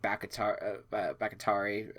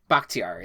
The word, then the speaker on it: Bakhtiari: I think Bakatari. I think I'm maybe pronouncing that wrong. Bakhtiari, that's it.